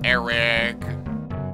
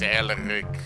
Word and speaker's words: Elric: My name is not Eric. It is Elric.